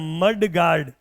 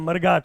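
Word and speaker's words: mudguard: जैसे गाड़ियों में आगे लगने वाला होता है वो होता है मड गार्ड, आपने देखा होगा, लेकिन हम उसको क्या पढ़ते हैं, प्रोनाउंस करते हैं मरगाट। तो मरगाट कोई वर्ड नहीं है, मड गार्ड होता है।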